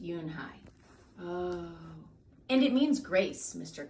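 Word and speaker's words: Unhei: Kim and then turned to Joey she nodded slowly yes and it's pronounced Yoon hide and it means grace mr.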